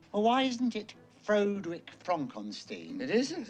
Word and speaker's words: Frankenstein: Young Frankenstein. Well, why isn't it Frederick Frankenstein?